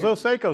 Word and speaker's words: Pozo-Seco: I know I'm going to say the band name wrong, so you can help me with it. The Pozo-Seco Singers. Pozo-Seco, so I would have had it right.